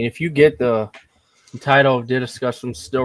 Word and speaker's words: DDiscussioMs: Welcome, everyone, to DDiscussioMs, or Discussions with DDM, but I'd rather you pronounce it like this if you still have trouble pronouncing it. DDiscussioms.